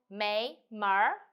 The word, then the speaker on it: 没门儿: directly draw up your tongue so for example may mar if you we saw the Earth we say